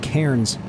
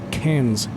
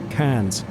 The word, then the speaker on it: Cairns: took me over his former hometown of Cairns, Australia, which I kept calling Cairns, but he corrected me. The proper Aussie pronunciation is Cairns. Cairns.